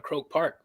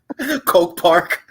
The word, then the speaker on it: Croke Park: They say David wanted to fight on Katie's undercard on Croke Park, but he was pronouncing the venue wrong. Ooh, David Benavidez? Yeah, he's pronouncing the venue wrong. Coke Park.